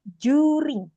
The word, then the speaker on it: during: Nah, ini Pak ini bacanya during kita bacanya pakai huruf J aja.